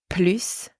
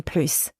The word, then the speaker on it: plus: middle of the sentence when plus means more the S is pronounced simple enough also when